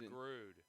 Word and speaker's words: DeGrood: It's DeGrood is how James has said it all season. DeGrood. Yeah, you said it in the same style. That's how you say his name. Put more emphasis on the O.